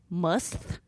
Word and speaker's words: musth: And then I just learned this: bats, a pungent odor that smells like rotten eggs, called musth. Must. Spell it for us.